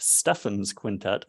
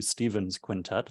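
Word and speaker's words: Stephan's Quintet: up and say that I'm pronouncing it to Stefan's quintet as opposed to Stephen's quintet that's at least how I've heard it always referred to as it's a series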